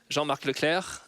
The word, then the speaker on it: Jean-Marc Leclerc: And on my right, we have, I have to pronounce it the French way, I'm sorry, Jean-Marc Leclerc, who is the head of EU policy at IBM.